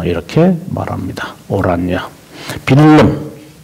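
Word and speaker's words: Willem: 빌름 더 오란여 이라는데 이 빌름이 이제 더치 말이니까 빌름이지 독일 말로도 해도 빌름인데 영어로 말하면 윌리엄.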